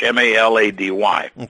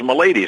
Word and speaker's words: Milady: my real last name is milady in its Irish ma la dy and of course in in the Boston area you know the Irish heritage is strong so the name has always been mispronounced I mean if CP was malady Malati I mean there was all sorts of pronunciations but the actual the the real way said is milady so anyway when I